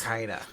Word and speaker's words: Dracana: You got it mostly right. It's Runaway Dracana. It's Dracana. It's like a it's like a Greek word or something that just means dragon, but fancy.